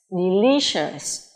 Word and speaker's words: delicious: C-I-O-U-S đọc là shus. Delicious.